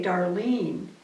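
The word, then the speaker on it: Darlyne: But when he was talking about the spelling of a name, my name is spelled D-A-R-L-Y-N-E, and it's said, you say Darlene, but it's caused me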